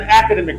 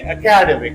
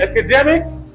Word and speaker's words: academic: He is an academic manager. Many will say academic, which is incorrect. If it is used predicatively, academic. If used attributively, academic, but not academic.